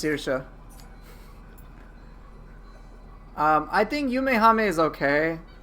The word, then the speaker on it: Saoirse: No, it's Sirsha. Seriously, it's pronounced Sirsha.